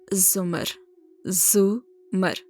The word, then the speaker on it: زمر: تھی۔ اس نے البتہ زمر کا نام غلط تلفظ سے بولا تھا، رے کے اوپر زبر کے ساتھ۔ اٹس زمر، زمر، زے کے اوپر پیش ہے، اس نے توڑ